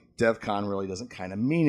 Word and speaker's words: Devcon: Devcon, which interesting. Not even a point of contention originally. It was assumed the pronunciation of his name isn't great in the episode, and most heard Defcon, which makes sense.